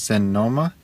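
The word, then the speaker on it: sennoma: letters in Esperanto also when letters are doubled you pronounce both of the letters such as senoma make sure you pronounce both of the n's and you don't say sen same with Mal longa not malonga there's a little bit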